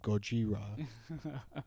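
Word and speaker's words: ゴジラ: I think I looked this up and apparently like, yeah, you're right in that it was just originally called Godzilla, or as they pronounce it, Gojira, because that's the American name they gave it.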